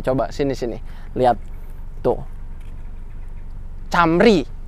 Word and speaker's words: Camry: sini sini lihat tuh Camry Camry ya sorry gua bacanya cambri karena gua ya masih